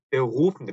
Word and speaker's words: Beruf: 근데 사실은 Beruf인데 Beruf, Beruf, 루 해서 목 안이 뭐랄까 떨리는 것 같은 Beruf 이런 소리가 이런 소리가 목 안에서 나는 소리입니다.